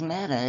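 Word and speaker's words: μετά: pronoun or not okay meta in Greek when you put it in a translator is Mata it's m-e-t-a exactly like it's spelled out here okay it's just it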